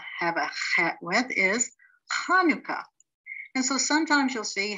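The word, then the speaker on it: חנוכה: a hat with is hanukkah and so sometimes you'll see hanukkah spelled with the ch and sometimes if you can't really say the ha you'll see it with the h hanukkah now when head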